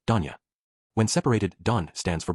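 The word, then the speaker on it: 丼屋: TL note, store is pronounced as Danya.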